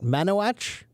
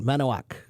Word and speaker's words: Manowak: Manowach, or is it k at the end? Manowak. Yes.